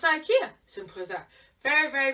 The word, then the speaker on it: IKEA: Now, it doesn't rhyme with hell, so it's just Ikea.